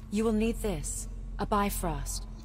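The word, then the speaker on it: Bifröst: the light of the Bifrost to reawaken that's not how you pronounce that it's beef list okay looks like the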